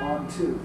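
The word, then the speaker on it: Anh-Thu: I said what's your name and she said on to and I was like on what kind of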